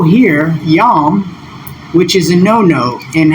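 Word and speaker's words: Yom Kippur: And this transcription is Yom. That's how they pronounce it. And they also do the next 3 letters for atonement as Kippur.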